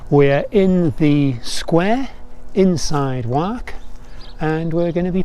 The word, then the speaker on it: Wark: picturesque Village of wak spelled w-a-r-k but pronounced locally as work we're in the Square inside work and we're going to